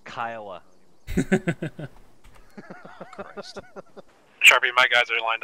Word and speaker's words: Kiowa: Kiowa yeah copy Nelson you Georgian hick it's pronounced Kiowa Sharpie my guys are lined up on your